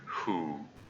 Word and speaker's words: who: I mean, the W is silent in the word who.